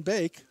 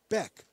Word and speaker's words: Beck: That'll bring up Austin Bake. I believe I'm pronouncing that correct. Is it Bake? B-A-E-K? Beck. Beck. Austin Beck.